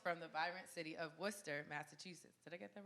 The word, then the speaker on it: Worcester: the vibrant city of Worcester Massachusetts did I get that right yeah you did hey what's the r is silent armed with with a